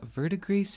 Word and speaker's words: Verdigris: Rounding out the holiday collection, we have Verdigris Jelly, which I hope I am pronouncing that right. I feel like you could put a French twist on it and not pronounce the S, but I Googled it and that's what I got.